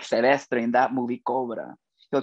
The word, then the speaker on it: Silvestre: It's pronounced Silvestre, Belleza.